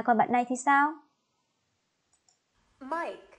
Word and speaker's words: Mike: Mike. À, các bạn chú ý phát âm đúng tên bạn này cho cô nhé.